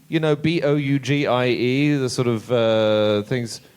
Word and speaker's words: bougie: there was some right you know is it pronounced Boogie you know b o u g i e the sort of uh things bougie sorry there